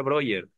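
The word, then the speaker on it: Breuer: brer brer Creo que creo que se pronuncia broer en alemán como Freud no es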